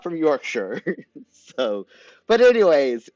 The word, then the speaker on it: Yorkshire: y so Yorkshire or Yorkshire I'm pretty sure it's Yorkshire like Yorkshire pudding right I shouldn't pronounce it like the Shire like it's the hobbit's place to live how how rude of